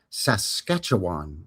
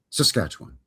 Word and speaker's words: Saskatchewan: It's actually Saskatchewan. You gotta free run through the first two syllables. Yeah, well, it's too many syllables, so you have to make two of them one, I believe.